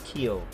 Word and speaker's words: Kiel: If you see a IE like in Kiel, you just lengthen the I and don't pronounce the E at all. So it's like saying Kiel in English.